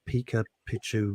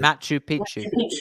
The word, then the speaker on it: Machu Picchu: well and did something in in South America Pika Pichu I can't pronounce it Machu Picchu thank you Pokemon whatever it is and they